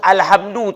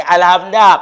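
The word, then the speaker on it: الحمد: dumah muuadapan itu sama jadi harus alhamdu tak boleh alhamda kenapa kalimah itu muftada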